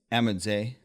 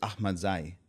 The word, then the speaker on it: Ahmadzai: Ahmadzai? The American way is Ahmadzai. Ahmadzai. But the traditional Afghan way is Ahmadzai.